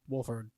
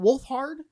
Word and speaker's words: Wolfhard: I couldn't I uh Finn Wolfford. Yeah. Is it Wolfhard? I guess I always pronounced it Wolfford because that set that I I don't pronounce it.